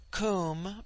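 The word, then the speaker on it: Koom: immortal spirit; vidya, immortality; cum, pronounced like the Welsh coombe, denotes something of hollowness.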